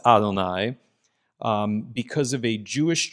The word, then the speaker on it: Adonai: 3rd century where um Adonai, the generic word for lord, came to be read in the place of God's actual name.